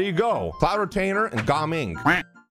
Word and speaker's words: Gaming: That's not how you say his name. I think there's supposed to be a hyphen or a space between Ga and Ming. So I think you pronounce it Ga Ming.